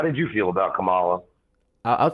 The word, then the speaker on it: Kamala: Um, so just real quick, um, you pronounce her name Kamala, like the comma in a sentence and then la.